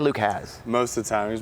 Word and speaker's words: Hasz: Luke Hasz. Most of the time. He's mostly Haas.